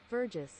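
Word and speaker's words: verjus: if google was right it might be right pronounced juice see verges nope it is right well since it is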